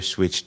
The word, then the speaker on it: PSwitch: I am the Silent P. I am Switch. That P is silent.